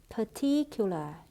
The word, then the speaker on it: particular: Chú ý từ particular, trọng âm rơi vào âm tiết thứ hai. Particular.